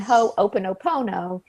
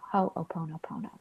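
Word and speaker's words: ho'oponopono: it correctly I had I had learned ho oponopono and she has informed me it's ho oh ho nope oh ho oponopono so don't let a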